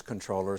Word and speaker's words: comptroller: on the air that even though it's spelled comptroller, that the common usage is controller, so let's go with common usage.